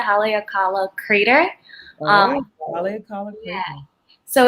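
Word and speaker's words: Haleakalā: taken in maui at haleakala i think it's how you pronounce it haley akala crater um yeah so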